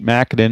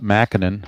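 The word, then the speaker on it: Mackanin: And that'll bring up Mackinnon, or McCannon. I think it's pronounced McCannon.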